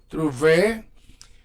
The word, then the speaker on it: trouver: ends in er, like trouver, so when you pronounce it, you say trouver. You sound the the e. Trouver. You don't sound the r.